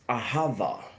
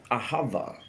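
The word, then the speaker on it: אהבה: Hebrew language actually you know comes from it's pronounced as aava aava and it means devotion it means deep care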